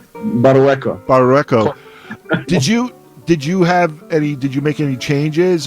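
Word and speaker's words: Barrueco: These are all transcribed by, let me see if I say his name right, by Manuel Barucho. Did I say that right? Barueco.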